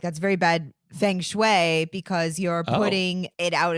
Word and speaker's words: feng shui: So if you want to follow the principles of feng shui, then you could certainly do it this way. Yeah, and if you want to pronounce it correctly, listen to the way Nick says it. Feng shui.